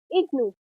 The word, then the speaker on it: IGNOU: For example, IGNOU is pronounced as IGNOU.